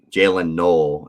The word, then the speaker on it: Jaylin Noel: Jaylin Noel is actually how you pronounce it, from Iowa State.